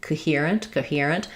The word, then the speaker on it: coherent: But I think in reality, coherent, because we stress on the here, it is going to be a little bit of a very short O and maybe even reduced to a schwa. I mean, I don't want to say coherent, right? It can't be a reduced schwa, but I definitely don't say coherent. That's going to be too long and overpronounced.